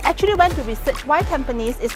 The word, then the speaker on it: Tampines: you know I actually went to research why tanes is not pronounced as tempin but tanes and it's because tones is named